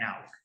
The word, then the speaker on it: hour: Ahí la H es muda. Exactamente. Entonces por eso es an hour.